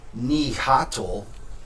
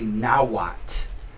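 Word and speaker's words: Nahuatl: that like you see a word like nihhat it's actually nawat and you know you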